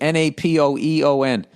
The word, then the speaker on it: Napoeon: Napoeon.